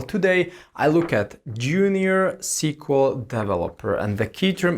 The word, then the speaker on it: SQL: a structured query language so it's SQL but it's pronounced as sequel sequence it's not if